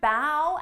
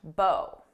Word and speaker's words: bow: Listen to me say this sentence and notice how the pronunciation changes. You should bow at the woman with the large bow.